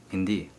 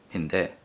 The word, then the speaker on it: hindi: so the way to say that is indeed Hindi Hindi and so a lot of native speakers also say the relax the I at the end and they pronounce it as Hindi and that's the one that I used to